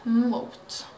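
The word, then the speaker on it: Muth: Och Mot är då tyskt. Det stavas M-U-T-H och uttalas Mot.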